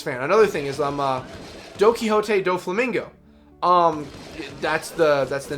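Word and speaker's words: Donquixote Doflamingo: I always thought his name until I properly heard it pronounced, because I was always watching the sub before I started the dub. I thought his name was, like, Don Quixote, like, Don Flamingo.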